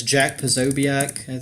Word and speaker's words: Posobiec: It's Jack Posobiec, I think. Posobiec. Posobiec. Posobiec. Posobiec. It's like Polish.